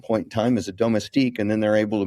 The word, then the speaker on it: domestique: So, I had a hard time pronouncing in the last couple episodes Damastik, right? Domestique.